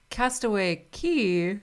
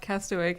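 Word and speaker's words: Castaway Cay: you can also debark it's castaway key not cast awake i feel like this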